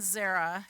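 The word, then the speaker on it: Zerah: yeah i put it right there perez and zara that's how you say it does anybody um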